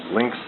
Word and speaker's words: lynx: Lynx is a wild cat. But it also rhymes with lynx, L-I-N-K-S, and would be a link.